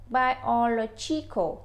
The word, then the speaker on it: biological: Biological tức là mình phải nhấn cái trọng âm ở chính giữa ngay chỗ chữ lo đó.